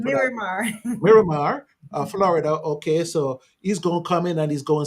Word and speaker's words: Miramar: Maramar Florida yeah you give me the proper pronunciation for marar Miramar Florida okay so he's going to come in